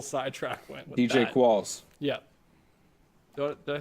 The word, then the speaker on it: Qualls: Qualls. Yeah. Did I say that before, or did I say his name wrong? Yes. Quills. I said Quills, didn't I?